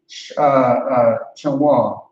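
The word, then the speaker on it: שמואל: It's going to be Shania, Shamwal.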